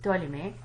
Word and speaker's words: Ptolemy: okay we will not P is silent so it's to a limit and then we have